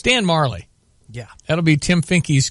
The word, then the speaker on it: Majerle: So I looked it up and got a pronouncer. Dan Majorly. So I said, okay, that must be right because it's online. It's Dan Marley.